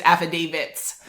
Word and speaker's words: affidavits: lawyers name is David he issues affidavits so just think Dave it that's one another is